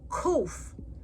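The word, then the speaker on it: ק: Kuf makes the sound like the K in kangaroo.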